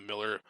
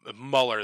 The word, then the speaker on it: Mueller: com by the by the miller by the mueller that's how you're supposed to pronounce his name by the robert mueller